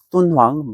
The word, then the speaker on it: 돈황: 그 위쪽에 돈황, 중국 발음으로 똔황입니다. 똔황 막고굴에서 엄청난 유물이 발견되는데요.